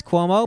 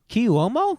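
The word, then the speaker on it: Cuomo: I'm like I know now that it's Quomo, but for years I did not know if I was like Kuomo.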